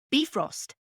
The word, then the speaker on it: Bifrost: where heimdal controls the bifrost which in actual Norse mythology is pronounced be frost the look of Thor